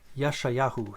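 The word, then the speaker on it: Yeshayahu: is year mayahu and isaiah is yeshayaou yashayahu so again uh how we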